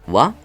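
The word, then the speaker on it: は: Sin embargo, aquí ya nos pone de wa se pronuncia wa. ¿Os fijáis? El libro te lo explica, ¿vale? Igual que aquí arriba, la partícula ja se pronuncia wa.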